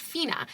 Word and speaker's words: Fina: kicked off that and I learned via the audiobook it's pronounced Fina.